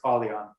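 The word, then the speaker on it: Ah Leon: artist to aspire to how do you say hey h l e o n two different words ali on all right i'll type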